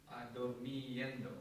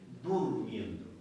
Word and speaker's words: durmiendo: Dormiendo. Right? Durmiendo. It's actually Durmiendo. D-U-R-M-I-E-N-D-O. Yeah. Durmiendo.